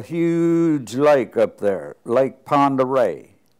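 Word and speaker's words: Pend Oreille: Yeah, but there was a huge lake up there, Lake Pend'Oreille. It's spelled Pendorille, but that's French or something, I don't know. It's Pend'Oreille is the way it is.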